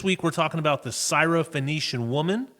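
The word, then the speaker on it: Syrophoenician: podcast and this week we're talking about the cyof phenician woman correct did I say it right you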